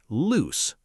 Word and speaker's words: loose: Pronounced loose, like goose, like moose.